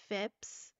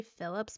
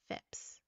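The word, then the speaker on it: Phips: pleas of the village fips I believe that's how you say his name I wanted to say Phillips but I don't think it's Phillips it's p h i PS fips um I can't help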